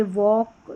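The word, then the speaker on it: walk: और दूसरा है कि एल साइलेंट रहता है। जैसे वॉक यहां पर है।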